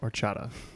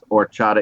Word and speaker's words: horchata: answer oh Latin with horchata okay I'll TR you um I I'm sure what you wrote is spelled correct but I believe the pronunciation drops the H we said orchata yes orchata is correct orchata less